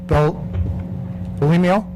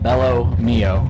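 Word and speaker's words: Belmio: clerk uh first is Bel bimo did I pronounce that right close it's uh Bell Mio Bell Mio Y and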